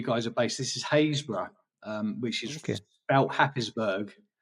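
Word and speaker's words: Harrisburg: know where you guys are based this is hazb um which is sp harisburg um but it's pronounced hazb um excuse me sorry um you said actually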